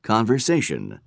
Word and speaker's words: conversation: the ac reaction okay three conversation conversations conversation the stresses on the essay conversation which is the third syllable in this word conversation and the last one